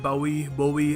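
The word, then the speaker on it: Bowie: Famous British singer, song writer और actor David बोवी अलग अलग प्रोनाउंसिएशन है। अमेरिकन बोवी कहते हैं, ब्रिटिश लोग बावी कहते हैं, सो याद रखिएगा।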